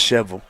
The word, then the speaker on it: Shelbyville: Uh you guys know that's pronounced shovel.